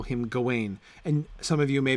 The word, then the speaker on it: Gawain: poem because it is very clear that in that poem the stress is on the first syllable because it illiterates right you have the stress on the first syllable because that initial G is the important part of it right it is Sir Gawain and the Green Knight because that's how the whole intonation of that poem works but the French Gawain